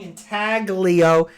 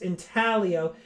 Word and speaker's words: intaglio: of intent element actually all of us have been saying intaglio it's italian should be pronounced intaglio guys this is the first